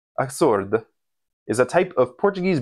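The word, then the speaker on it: açorda: The other soup I was thinking of making is Acorda, or no, let me get that Portuguese pronunciation perfect. Acorda is a type of Portuguese bread soup.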